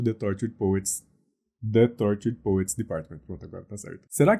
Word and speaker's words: The Tortured Poets Department: É assim que se pronuncia, eu sou professor de inglês, então você pode só repetir o que eu falei aqui agora. E se alguém te falar, não é assim, você vai mostrar esse vídeo pra ela e fala, um professor de inglês, um cara que dá aula há 12 anos, me falou que se pronuncia The Tortured Poets Department.